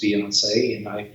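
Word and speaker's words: Beyoncé: Her maiden name is Beyonce, and I spelled it B-O-Z-S-A-Y, Beyonce, so that I could pronounce it.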